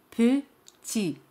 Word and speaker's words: petit: La palabra petit significa pequeño. Petit. T al final es muda, no se pronuncia. Petit.